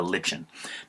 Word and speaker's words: lichen: An example of this type of relationship would be a lichen, sometimes pronounced a lichen.